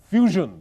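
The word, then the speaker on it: Fuzon: have the answer strings it's not strings it's Fusion spelled with a zed f u z o n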